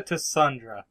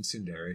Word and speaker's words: Tsundere: Yeah, she's a Tassundra. Oh, Burke. She is so Tassundra. You mean Tsundere?